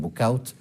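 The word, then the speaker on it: Bouchout: por último en el castillo de wushu que ellos los flamencos le pronuncian book out mueren nacen y mueren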